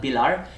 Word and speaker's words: Bilar: I don't know if you can pronounce it because we say the I very different. It's not bilar, it's bilar. Bil. Can you say it? Bil. Yeah, it's very weird I.